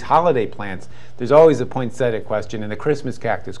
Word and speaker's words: poinsettia: Poinsettias? They're actually pronounced poinsettia.